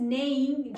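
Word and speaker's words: neighing: हैं ने हिनहिनाना तो the horse is नेइंग ji silent होगा घोड़ा हिनहिना रहा है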